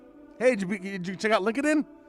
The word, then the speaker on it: LinkedIn: out after 10 years that linkedin is not pronounced lincoln spent all day wondering how many meetings i said that in link it in hey did you check out linkedin it's linkedin oh link